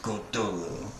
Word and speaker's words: Cthulhu: So the U is about like that in lull, and is the first syllable, and not unlike clue and sound. Hence, the H represents the guttural thickness, yielding something akin to whatever.